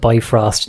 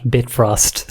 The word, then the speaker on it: Bifrost: um I discovered that the Bifrost is actually pronounced and spelled Bifrost not bit frost I've been doing it